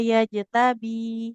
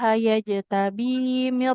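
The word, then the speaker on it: يجتبي: Walakin Allah yajtabi. Baknya kasroh bertemu ya. Harus dipanjangkan. Walakin Allah yajtabi mir rusulihi man yasha. 'Alal ghaibi walakin Allah yajtabi mir Hmm, rusul. enggak. Gimana tadi Bu bacanya? Yajtabi, bukan yajtabim.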